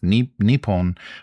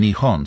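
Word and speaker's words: 日本: sticking with nepon like so there's two pronunciations of the Japanese kanji nepon which is the old style very old and kind of classical and nion.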